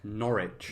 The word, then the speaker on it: Norwich: Is it Norwich? Norwich. Norwich. Ignore the W.